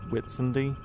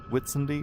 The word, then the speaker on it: Whitsunday: Really it's Witsendy Witendy or something but it's spelled White Sunday without the E.